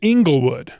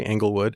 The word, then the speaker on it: Englewood: I grew up there, and we say Englewood.